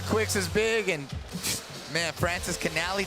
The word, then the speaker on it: Francischinelli: Man, I thought Kuiks is big, and man, Francischinelli, did I say it right? Yeah, you did.